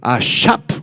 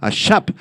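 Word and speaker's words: אשף: Ahora bien, un encantador, esta palabra proviene del hebreo ashap, con acento en la A, ashap, se refiere a un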